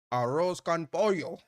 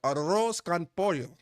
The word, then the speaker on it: arroz con pollo: July winner chicken dinner, arroz con pollo. Arroz con arroz. You gotta roll the arroz con pollo. Nah, you ain't roll your R's.